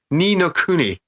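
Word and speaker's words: Ni no Kuni: unbelievably off the radar except for one game ninokuni am i pronouncing that name correct pete yeah i thought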